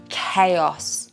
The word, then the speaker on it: chaos: This one tricks people because they think it should be ch, but it's not. It's a C. Chaos.